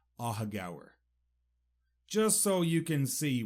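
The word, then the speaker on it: Aughagower: a hug hour and first how you spell it a u g h a g o w e r aaga just so you can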